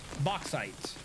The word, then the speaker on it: bauxite: Pronounced bauxite.